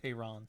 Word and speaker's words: Tehran: That would be pronounced Tehran.